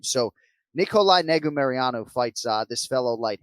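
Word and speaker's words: Negumereanu: for today is nikolai negu meriyanu right or five syllable surname so nikolai nego mariano fights uh this fellow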